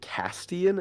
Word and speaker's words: Castian: Is it Castian? Is that how you pronounce his name? Yes. Yes!